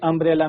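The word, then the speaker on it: umbrella: Uniform consonant sound आ रहा है। और जो अंब्रेला है। अंब्रे अंब्रेला में हमारा वोवेल साउंड आ रहा है।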